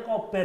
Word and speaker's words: Kober: Ternyata bacanya kober ya ini ya pemirsa ya. Karena banyak yang bilang kober bacanya. Kober atau gober Atau biasanya. kober ya. Ternyata ini ownernya ngomong ya, cara bacanya itu adalah kober ya.